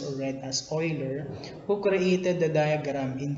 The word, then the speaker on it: Euler: the swish mathematician leonard euler so this is pronounced or read as euler who created the diagram in 1770s it is